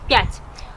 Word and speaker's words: пять: Пять. Let's read together. Один. Два. Три. Четыре. Пять. Now you read it. I'm waiting. Pause the video and read it. Okay. Один, два, три, четыре, пять.